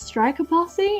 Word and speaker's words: Strikaposse: You guys will probably know me from my online alias Strikaposse, and yes, that's how it's said. I know there's a lot of confliction between whether it's Strikaposse or Strikaposse, things like that.